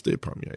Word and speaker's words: Despommier: And, until I got out of the house, that's the way I pronounce it. Now you say Despommier, right? Despommier. It's Despommier, yeah.